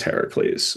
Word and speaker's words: Heracles: I'm going to go with the ancient Greek pronunciation, which is Heracles."